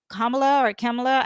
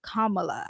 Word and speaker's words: Kamala: When I was doing Kamala's video, Kamala, I don't know how you say her name. Kamala, I think is how you say it.